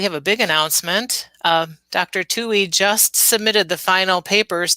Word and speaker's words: Tuohy: Tui, and if you don't know how to spell it, it is Tuohy, right?